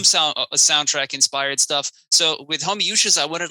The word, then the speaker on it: Homoiousios: really fucking funny, but apparently it actually is pronounced Homoiousios.